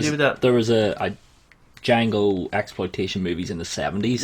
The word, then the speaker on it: Django: is your name mmm Django can you spell it d.j a and g.o.d silent I know guys that's